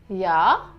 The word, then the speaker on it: ja: So it's ja, ja. Do remember, J in German is pronounced as J. J. So the sound is of Y.